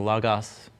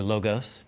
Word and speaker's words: Logos: Software so I'm using the logoff Bible software or logos depending on how you learned how to pronounce Greek and so what's great